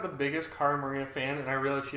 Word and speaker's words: Cara Maria: We've had everyone call Cara, Kara, Marie, Maria. Like, her name has just been like a cycle of mispronunciations.